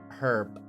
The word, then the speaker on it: herb: American English typically uses a silent H, herb, or an herb. While British and Australian English typically use the H, herb, or a herb. Interesting. It's actually pronounced horb.